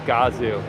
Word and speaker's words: Gazoo: is doing for them I also didn't realize that godzoo racing is pronounced gazi racing I thought it was Gazoo racing it's Gazoo uh can I hop